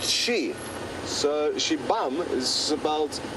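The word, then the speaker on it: xibamu: is pronounced shei so shibam is about x i b a m u kind of don't really pronounce the U at the end or at least you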